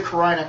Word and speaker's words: carina: I forget how to pronounce it. It's cool, man. C-A-R-N-I-A? Carina.